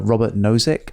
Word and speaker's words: Robert Nozick: want it yep there's a philosopher called uh robert nozick i think i'm pronouncing that correctly uh but in 1989 he